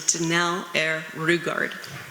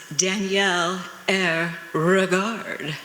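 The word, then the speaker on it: Danelle Airrugard: show, on Johnny Carson, he referred to me as Danielle Air Regard. And I was like, but Wax, that's not how you say my name.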